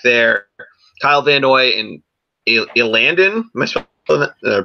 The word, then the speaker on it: Elandon: Kyle Van Noy and Elandon, am I pronouncing that name right? Elandon Roberts as their middle linebacker, their Mike linebacker.